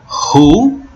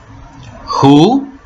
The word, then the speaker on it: who: nós temos aí o Who Who tá o w a gente não pronuncia é só o som do H tá e do o